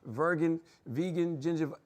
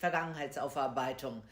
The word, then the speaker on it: Vergangenheitsaufarbeitung: past, that they call vegan, ginger. Y'all know I can't pronounce that shit. Where's the expert? Come on. Charlamagne, the Germans love long compound words. This is pronounced Vergangenheitsaufarbeitung.